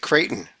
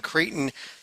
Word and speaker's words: Creighton: And I don't have Dayton, but the team I do have rhymes with Dayton. Is it Creighton?